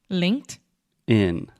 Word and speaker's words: LinkedIn: In LinkedIn and then when we say it a little bit faster that t gets a little bit softer and faster so if I'm speaking normally like at a conversational speed I will say LinkedIn LinkedIn yes LinkedIn pretty good this is what we call a stop t so as you know